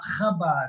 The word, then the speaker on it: Chabad: Chabad. Say Chabad. Okay, I got you. Chabad. You say it like a K instead of trying to do the Hebrew guttural in there. Just do it like Chabad.